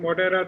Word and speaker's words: Modhera: talk will be about so let's look at moderate the place just to let you know i'm